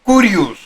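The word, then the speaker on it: κύριος: el de señor dios kirius griego antiguo pronunciado curius término griego que corresponde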